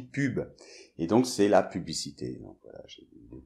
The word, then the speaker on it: pub: Alors il faut pas confondre avec un pub, un pub anglais ou on boit de la bière parce que ça s'écrit pareil finalement, mais on dit pub.